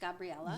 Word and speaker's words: Gabriela: We say, because my name is Gabriela. My family's from Gabriela, South America. okay. And so it's pronounced Gabriela.